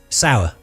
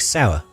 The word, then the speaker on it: Sauer: Sour. Okay, so it's a SIG sauer. Because it's spelled S-A-U-E-R or something like that? SIG sauer. SIG sauer.